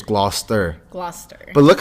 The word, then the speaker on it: Gloucester: So it's Gloucester. Gloucester. But look how it is though. Like how I know it's spelled.